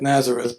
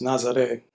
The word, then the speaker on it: Nazareth: But Ernesto Nazaré, um, it looks like Nazareth, but it's pronounced Nazaré.